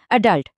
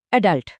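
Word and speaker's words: adult: এই যেমন অ্যাডাল্ট শব্দটা। আমেরিকানরা জোর দেয় দ্বিতীয় অংশে বলে অ্যাডাল্ট আর ব্রিটিশরা তারা জোর দেয় প্রথম অংশে বলে অ্যাডাল্ট আরেকটা দারুন উদাহরণ হলো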